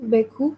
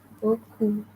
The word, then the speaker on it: beaucoup: Beaucoup. Beaucoup. Okay. EAU always gives you the sound O. So B and O gives you beau. Beaucoup. All right?